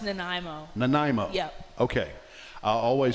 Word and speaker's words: Nanaimo: tell me the pronunciation of your hometown it's pronounced Nanaimo Nanaimo yep okay I always say when I'm